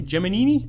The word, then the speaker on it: Gemini: topic was that I've been pronouncing Gemini wrong all this time as have I what was it in the movie jiminy jomini jhemini yeah and repeatedly and yeah regardless of where the person was from in the country they all pronounced it that way I don't believe I've